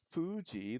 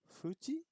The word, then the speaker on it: Fuji: uh this one is what Japanese people usually pronounce f as an H yeah so Fuji that we would say with a hard F right Fuji it would be Fuji maybe Fuji is that